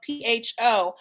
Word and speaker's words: pho: it great vietnamese restaurant so remember it's spelled p-h-o it's pronounced for the town um margaret it's a vietnamese soup